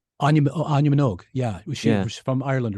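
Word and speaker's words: Áine Minogue: Anya Minogue.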